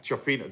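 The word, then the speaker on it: cioppino: Anyway, what's it pronounced of? Chopino. Chopino, that's the one.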